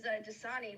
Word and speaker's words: Dasani: My last name is Dasani, like the water.